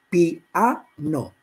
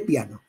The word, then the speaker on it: piano: la diéresis, o sea, a pronunciar piano en tres sílabas. Porque eso lo hacemos los catalanes en general, porque en catalán se hace más. Entonces yo digo habitualmente piano. Un sudamericano dice piano, siempre.